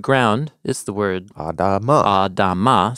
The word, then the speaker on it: Adamah: Adama, so it rhymes with Adam.